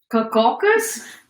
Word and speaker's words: Caucasus: Caucasus? Caucasus. Oh, that's how you spell it.